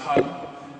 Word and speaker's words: Hang: The instrument I play is called the hang. It's actually pronounced hum, and it's a Bern dialect, which is Bern in Switzerland, so this is where it comes from.